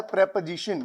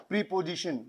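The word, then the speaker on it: preposition: बहुत सारे बच्चे इसको प्रोनाउंस करते हैं प्रीपोजिशन, लेकिन आज के बाद अगर आपने प्रीपोजिशन बोला तो मैं आपका सर फाड़ दूंगा। याद रखो, क्या बोलेंगे हम लोग? प्रेपोजिशन। क्या बोलेंगे बच्चों? प्रेपोजिशन।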